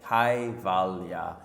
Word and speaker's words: Kaivalya: KAIVALYA is K-A-I-V-A-L-Y-A, KAIVALYA.